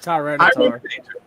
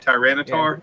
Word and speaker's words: Tyranitar: Tyranitar. Oh, is that how you say it? Tyranitar?